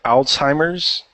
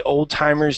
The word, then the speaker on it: Alzheimer's: a class Hannah Hannity can you read here Alzheimer's disease okay can you read this okayo yes go ahead Alzheimer's disease uhhuh then continue on do you say Alzheimer's so yeah hannad day uh hannad day are